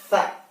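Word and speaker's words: ث: Sedangkan kalau titiknya ada 3 di atas, maka kita bacanya tha. Lidahnya digigit di tengah-tengah, di kedua gigi.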